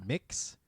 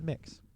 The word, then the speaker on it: Mx: And I think that's pronounced mix, but there isn't an I, so I'm not entirely sure. If somebody knows, let me know. I think it's a mix.